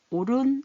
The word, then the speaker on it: 옳은: 개구리가 되라고 엄마는 청개구리에게 옳은 옳다 할 때 그거죠 오른 이렇게 소리납니다 히읗 소리 안 나고 소리로 훈육을 하였지만 우리